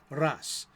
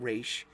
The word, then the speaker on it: Ra's al Ghul: Ras, Al Ghul. So that means the demon's head. So it's not Raish, it's not Raz, which is close. It's more like Ras.